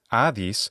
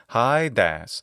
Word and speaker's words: Hades: rules the underworld so while in modern pronunciation this God's name is AIS In classical adct pronunciation it's hias but by Roman times the pronunciation shifted a bit and it become simply hadash but there's another name